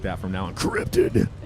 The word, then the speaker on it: Kryptid: Kryptid. It's more epic. How do that you way. guys pronounce it?